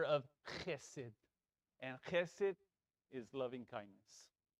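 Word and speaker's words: חסד: So it's not chesed, it's chesed.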